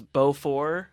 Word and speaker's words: Beaufort: is Beaufort, and I've heard it Yes.